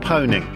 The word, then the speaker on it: pwning: I've always pronounced that pwning. Yeah, I think it's a I think it's a silent P.